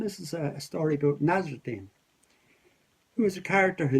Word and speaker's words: Nasreddin: And they still tell the stories of Nasreddin Hoja or Nasreddin Hoja. Wherever you are, you'll have a different pronunciation. But that's my pronunciation for it anyway, it's Nasreddin.